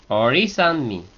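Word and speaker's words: Orí: Ori. Solo la i de or lleva acento.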